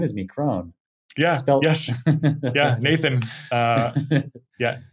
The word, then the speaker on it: Krohn: But everyone, seemingly half the people that I meet for the first time want my name to rhyme. John Krohn.